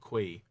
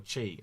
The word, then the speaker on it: Qi: They're telling me in chat it's pronounced chi, not qui.